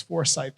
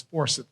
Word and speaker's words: Forsyth: from Georgia of course I'm saying it incorrectly and to say it correctly then say it the way it's supposed to be said so it's Forsyth County but it's Forsyth County from anyone who's from Georgia and I was corrected